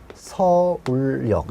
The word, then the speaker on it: 서울역: 최종 발음은 서울역 이렇게 나와야 되는 거고요.